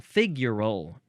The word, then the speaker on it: figural: next we got figural you got to emphasize the first syllable figural with an Al at the end and adjective from the